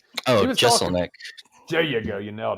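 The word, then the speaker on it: Jeselnik: I can never pronounce his last name. Oh, Jesselnick.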